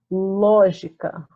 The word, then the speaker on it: lógica: Que a sílaba mais forte ela está na posição antepenúltima. E, devido a isso, a gente tem uma palavra proparoxítona que, sem erro nenhum, ela vai ser acentuada.